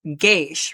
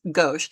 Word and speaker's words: gauche: Now, initially, the way that I wanted to read that was gay-sh, right? Somewhat gay-sh because of the G and the A, but gauche is actually a French word, and the proper pronunciation is "gauche."